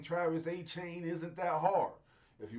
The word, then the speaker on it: Etienne: Saying Travis Achain isn't that hard.